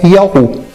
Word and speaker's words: Yahu: grafia indiscutível é Yahvé, outros dizem que a pronúncia é Jeová, e assim vai. Mas nós temos fundamentos bíblicos que dispensam qualquer discussão doutrinária ou querer de qualquer homem para dizer que a pronúncia é Yahu.